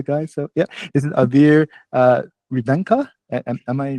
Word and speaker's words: Aveer Revankar: So yeah, this is Aveer Revankar. Am I right? I just want to make sure I pronounce the name right.